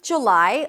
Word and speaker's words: July: The American pronunciation is either a J sound, then the as in cook, look, and book, J, J, and then lie, an L sound, and then the I as in my, July. But a lot of people drop the first vowel to a schwa, J, J. July, July. Which one is easier for you? July, July. In British pronunciation, by the way, you'll hear more of an oo sound.